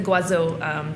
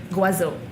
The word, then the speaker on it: Goisot: The Guazot Bourgogne Blanc. We pour it by the glass. Who's the maker? Guazot. Spell. It's from the Côte d'Azur. Spell it Goisot. Okay. Right? Guazot.